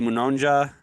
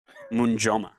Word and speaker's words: Munjoma: Eddie Munonja. Oh, I might have butchered that. Munjoma. Eddie Munjoma.